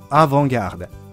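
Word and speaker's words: avant-garde: きますよねこれからもしアバンギャルドと言う必要があるときにはあーぼんぎゃーでと発音してください昨日言った美術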